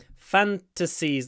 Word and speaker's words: fantasies: has some weird fantasies fantasies the stress is on the foot I would say the first syllable fantasies some fantasies they're